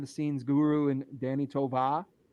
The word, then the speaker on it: Tovar: scenes guru and Danny Tovar. We're from Massachusetts, so that R doesn't get pronounced. Tovar.